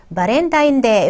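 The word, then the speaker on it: バレンタインデー: 발렌타인데이는 바렌타인데이 이렇게 발음합니다.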